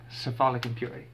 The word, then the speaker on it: Cephalic Impurity: I said it right, Cephalic Impurity.